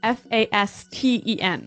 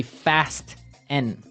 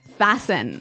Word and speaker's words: fasten: interesting yes it's spelt f-a-s-t-e-n right so it would be fast n no no right fasten fasten the t kind of becomes silent so it's fasten yep okay let's look